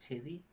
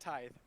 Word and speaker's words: tithe: parts of the tithe do you think it's pronounced titty it's coming from somebody who lives in the empire of the red tithe it's pronounced tithe oh okay although haven't